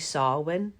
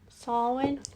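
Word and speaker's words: Samhain: i i n yeah I always thought it was pronounced samine and it's not what is it uh it's actually swin sawin or sa okay um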